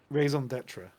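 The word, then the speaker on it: raison d'être: how do you pronounce this? Raison d'etre.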